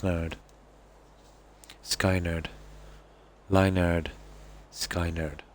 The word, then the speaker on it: Skynyrd: Oh, it's pronounced nerd. Skynerd.